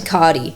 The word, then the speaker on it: Cardi: Because my last name's Cardi. Rhymes with farty, darty, smarty.